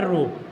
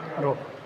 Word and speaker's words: rho: तो R equal to, हमारा R equal to क्या हो जाएगा, एक सिंबल आता है रो, जैसे P जैसा लगता है, लेकिन थोड़ा बनाने की प्रैक्टिस करिए।